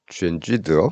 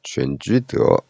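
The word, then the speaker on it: 全聚德: 얘는 뭐 중국식 발음으로 하면 뭐 쥐엔쥐드어 뭐 이렇게 부르죠. 쥐엔쥐드어.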